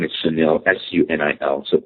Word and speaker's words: Sunil: And my name is Chanel su nil.